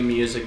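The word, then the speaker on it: Muzak: Scante, Real Cocaine Music, High Till Dawn, and music is spelled uh M U Z A K.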